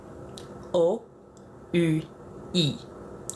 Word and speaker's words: oui: O-U-I. Oui. So, oui is just the enunciation of the vowels. O becomes O. U becomes U. I becomes E. It's just how it's pronounced.